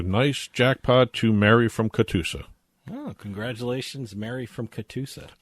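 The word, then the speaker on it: Catoosa: as mary from cuddle katusa oklahoma not cudaloosa katusa oklahoma katusa katusa if anyone knows where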